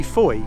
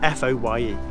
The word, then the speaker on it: Fowey: The original name of Fowey, f o w e y, was simply Fowey, f o w e y. And as you know, the current name is still pronounced that way, i.e.